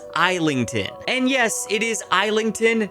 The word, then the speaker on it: Islington: And yes, it is Eington, not Islington, like The Burrow in London.